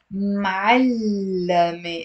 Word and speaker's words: معلمة: the te marbuta and it becomes معلمة. It's three syllables, not two syllables. Otherwise it will be something else.